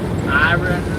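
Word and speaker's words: Iraan: I don't know how they pronounce it. It's I R A A N Iron.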